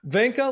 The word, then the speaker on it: Vinca: I pronounce my first name as if it rhymed with Sanka, for those of you who remember Sanka brand decaffeinated coffee. So I say Vinca. All right. But Vinca you're very.